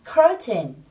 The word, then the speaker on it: curtain: trong tiếng Anh là curtain. Again, curtain. Từ này trọng âm rơi vào âm tiết số 1, các bạn nhớ nhấn nhé.